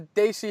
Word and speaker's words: Desi: I'm proud of you for continuing to pronounce Desi properly. Oh, that's in my vocabulary, Trent. It's Desi.